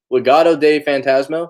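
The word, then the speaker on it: Legado del Fantasma: Legado de Fantasma.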